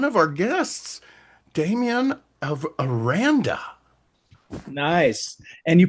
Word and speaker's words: Aranda: Scott, and one of our guests, Dameon of Aranda. Nice. And you pronounced it correctly, and I love that.